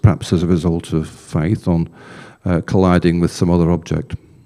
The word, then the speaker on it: Phaethon: I've always used to call it Phaethon, but Phaethon seems to be one pronunciation, but you can look elsewhere on the internet and you get it called Phaethon. So there's a difference between the pronunciation.